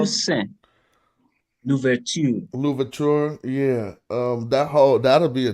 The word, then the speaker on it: Toussaint Louverture: Leon Couture. Toussaint Louverture.